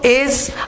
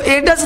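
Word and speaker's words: edge: अगला देखो, D silent, यानी डी कब चुप रहता है, तो डी देखो एज, अब इसको एडस नहीं बोलेंगे, ठीक है, बजट, इसको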